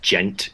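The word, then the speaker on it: djent: Um, and I guess spurred by the gent movement in metal and that's spelled DJ E N T and it is rem it is uh defined as anamanopia for the sound like you'll you'll know it when you hear it.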